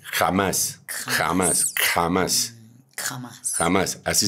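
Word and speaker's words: Hamas: ejemplo a el grupo se escribe h a m a s con acento en la a final eh en español Ah sí eh pero la forma como se pronuncia en el diccionario bíblico esa palabra es kj a m a s jamás jamás jamás jamás jamás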